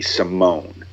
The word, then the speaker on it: Simone: young gentleman named Ricky Simone his name looks like it's Simon but it's it's pronounced Simone and he's out of